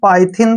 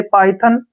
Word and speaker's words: Python: ध्यान रखिए, जब भी दो कॉन्सोनेंट के बीच में वाई आए तो हमने उसको आई पढ़ना है। जैसे पाइथन, टाइप, इसमें भी दो